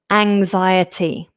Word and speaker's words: anxiety: Now anxiety, it has this nasal straight after the initial vow. Ang Now there is a difference between the N sound n and this nasal sound.